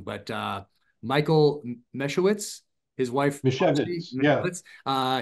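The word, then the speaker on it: Misiewicz: And his name is Mishevitz. It sounds Polish, right?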